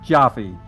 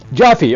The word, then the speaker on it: Jaffe: Oh, first of all, the last name is pronounced Joffy. Joffy.